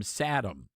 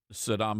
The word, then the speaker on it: Saddam: Um if you remember back during the first the first Gulf War and George HW Bush would always mispronounce Sodom Hussein's name. He would call him Satam.